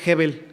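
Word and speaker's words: הבל: hermanos se acuerdan es una palabra que se pronuncia hebbel ybel específicamente o de manera muy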